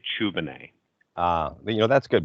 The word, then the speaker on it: Tchoubineh: to france and so this is the french spelling of the last name not the english spelling so as such the t is silent so when we came